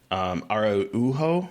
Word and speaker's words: Araujo: I think that writer-director Beth Day Arujo, I apologize, I do not know how to pronounce the last name. Araujo, sorry.